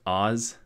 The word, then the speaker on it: AHS: support or AHS but in parentheses they say it's pronounced Oz so oszi Oz but